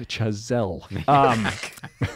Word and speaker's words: Chazelle: It's pronounced Chazelle.